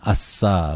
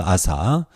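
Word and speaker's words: אסא: 주인공은 유다 왕 아싸 히브리어로 발음하면 아싸 가 되겠습니다 우리말 아사 이 사람에 대한 기록은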